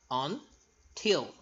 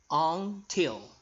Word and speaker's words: until: Until. Remember, L at the end. Make sure that your tongue is right behind your upper teeth. Until.